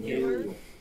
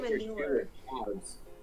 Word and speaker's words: Manu: You can't call him manure. It's Manu. Athena said I call him manure. I pronounce it. Right. Is that like, that's not nice. Saying cow manure. No, sis, it's Manu.